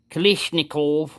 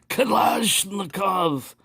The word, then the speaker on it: Kalashnikov: that I had a Kalashnikov knife, and he right away corrected me with me pronunciation. Yes, you pronounce like drunken tourist vomiting on floor. Kalashnikov.